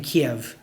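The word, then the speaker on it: Kyiv: all that happens in keev and in Ukraine or the Russian pronunciation in Kev uh so control by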